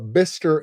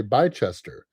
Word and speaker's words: Bicester: Kind of like Bister, England. Beard wanted me to say Bicester. He said it's Bicester, but the owner of the